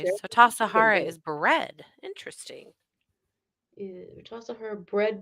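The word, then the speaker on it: Tassajara: Tasahara is bread. Interesting. Tasahara bread book recipe pronounced Tasahara.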